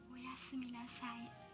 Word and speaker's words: おやすみなさい: おやすみなさい.